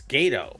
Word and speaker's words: Gatto: Or is it Gatto? I guess it's Gatto. Gato. It's Gato. It has to be Gato the way it's spelled.